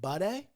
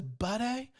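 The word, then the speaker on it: Buday: is a minus 225 i would pronounce it buddy hey buddy kind of like how might and uh martin michael bisping says budday but it's booty i believe uh minus 220 so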